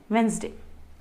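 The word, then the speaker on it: Wednesday: अब इसमें जो ये डी है वो साइलेंट होता है और हम इसे प्रोनाउंस करते हैं वेंसडे।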